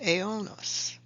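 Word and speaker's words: αἰῶνος: Looking more closely at that Greek word, translated in the King James as world, it is pronounced aionos.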